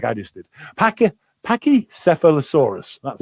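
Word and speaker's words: pachycephalosaurus: of thesaurus just like i just did pacquia pachicephalosaurus that's how you say the one with the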